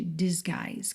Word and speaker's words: disguise: Você junta o T de can't com o D de disguise. Can't disgise? Disguise. Nesse G o I. Olha, o U não é pronunciado.